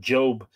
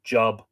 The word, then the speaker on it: Job: the book of job i pronounce that job some people pronounce it job for a world that